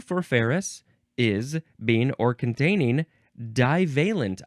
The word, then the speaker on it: ferrous: Next is ferrous. Ferrous. It is not Ferris wheel, but it is pronounced the same way.